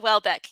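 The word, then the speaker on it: Houellebecq: know how to say his last name Michelle Welbeck yes right so he's he's a French novelist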